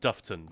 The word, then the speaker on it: Dufftown: the world, it's called Dufftown. It's It's pronounced Duftton, but spelled Duff Town, as in Hillary Duff, if anyone knows.